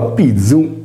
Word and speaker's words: pizu: Pronunciando la parola pizzu, panna in sardo, sentiremo vibrare le corde vocali, poiché il suono è sonoro. Se invece pronunceremo pizzu, pizzo, non sentiremo vibrare le corde vocali poiché il suono è sordo.